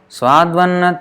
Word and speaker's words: Swadvanna: Actually, this v means is actually u. So it is actually Swadu Anna becomes this u plus a becomes va.